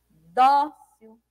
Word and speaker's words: dócil: Dócil, suavemente. Banana é a penúltima sílaba, que é a mais forte, ó. Dócil. Dó é a penúltima, né? Porque a gente conta o quê? Da direita para a esquerda, né?